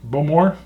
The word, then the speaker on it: Bowmore: Bowmore? God, I always try to say it right. Just remember, the emphasis is on the more, as we're told.